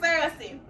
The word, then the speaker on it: Cersei: That's the pronunciation, Cersei.